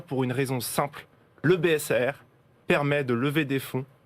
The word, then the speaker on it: BSA-AIR: On dit BSAR, R comme accord d'investissement rapide.